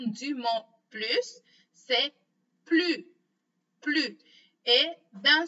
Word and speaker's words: plus: La deuxième façon de prononcer le mot plus, c'est quand on fait la liaison. Et dans ce cas-là, on va prononcer z, z.